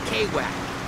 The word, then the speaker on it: Kwak: sure here we go it's Mr right call me Kwak that's how I roll over here nobody can pronounce my name right I'm a